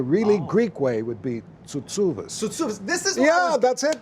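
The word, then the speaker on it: Tsoutsouvas: For some reason, we say Chuchubas, but the really Greek way would be Tsutsuvas.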